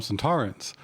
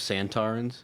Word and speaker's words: Sontaran: reason we call him some Torrance with the accent on the second syllable oh instead of santarin no s s it's